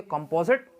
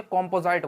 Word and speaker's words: composite: अब हाँ, आप कहेंगे कंपोजिट, देखो सही प्रोनाउंसिएशन कंपोजिट नहीं है, कॉम्पोजाइट बोला जाएगा, ठीक है, कॉम्पोजाइट नंबर।